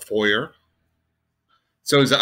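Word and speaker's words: Fouéré: F as in Frank, O-U-E-R-E. And it's got the accent marks over the E's. Then that's, well, Foyer.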